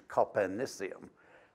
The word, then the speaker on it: Copernicium: The elements up to Copernicum, with number 112, there's a sissy pronunciation of that and a sissy spelling, which is Copernicium.